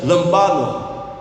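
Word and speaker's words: λαμβάνω: a palavra de Deus o grego desta palavra receber ele se pronuncia lambado que quer dizer pegar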